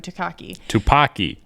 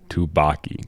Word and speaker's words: Tupaki: perfect Evelyn to take down Joy, or Jobu Takaki. Tupaki. What was I saying? Tupaki? You were saying Tupac. I said Tupaki this time. I said it right. Tupaki.